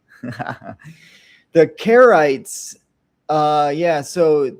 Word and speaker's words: Charites: The Charites. Uh yeah, so c h in Greek is the um cur sound, cuh.